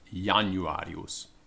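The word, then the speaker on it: Januarius: year in yes so the word january we pronounced januarios um with the j being yeah and not using an i latin is a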